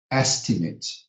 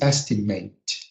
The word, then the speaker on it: estimate: So we have advocate, estimate, and certificate. So you see, the verb is estimate, but the noun is estimate, and certificate, which is